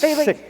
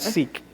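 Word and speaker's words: Sikh: who's sick man sick he's pronounced sick by the way not seek yeah go ahead i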